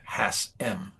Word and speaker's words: Hassam: Um, and it's pronounced Hassm H just the M. Hassan.